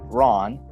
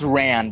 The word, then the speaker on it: Ran: The episode begins with Mando arriving at a spaceport to meet with an old friend named Ron. It's pronounced Ran, but that's stupid for a job.